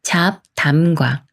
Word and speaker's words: 잡담: 합격이라고 읽어요 합격이 말은 잡담과 잡담 중에 어떻게 읽어야 할까요 비웃 받침이 초성 디귿을 만났으니까 초성 디귿이 쌍디귿 소리인가 되면서 자 잡담이라고 읽어요 잡담이 단말은 합법과 합법 중에